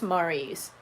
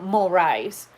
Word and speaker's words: Maurice: who goes or actually their name is maurice if you call them mulris do you think they're